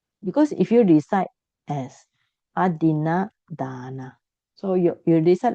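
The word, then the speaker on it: adinnādāna: They pronounce adina dana. It's wrong, You should not pronounce adina dana. You should pronounce adina dana. Okay, you should make your a long. Because if you recite as adina dana, so you recite like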